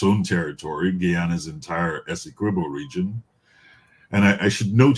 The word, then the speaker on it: Essequibo: And I just want to be very clear that it is Essequibo, not Essequibo. This has always been the way that it has been pronounced.